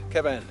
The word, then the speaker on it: Cefn: C-E-F-N spelt Cefn, but pronounced Cefn, like Cefn Hill, opposite the Hay Bluff back in Herefordshire.